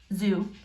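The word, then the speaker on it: xu: me an x word zoo sounds like a z yeah most of the x words are pronounced like that what does it mean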